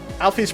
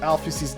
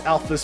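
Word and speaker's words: Alphys: Alfie's name is pronounced, Toby Fox reveals that it's pronounced Alfie. I might have pronounced her name as Alfus before, but that's because that's how I've used it for a long time. And only recently has it been revealed to me that canonically it is pronounced as Alfie.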